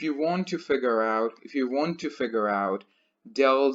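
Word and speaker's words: ∂: partial derivatives you're right the sign pronounced as del del so a way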